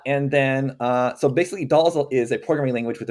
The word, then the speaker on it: Dhall: for oh yeah so the way you spell doll is d h a l l uh it's named